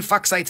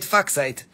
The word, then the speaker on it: Fuchsite: Okay, look, this is very nice green Fuchsite Phantom.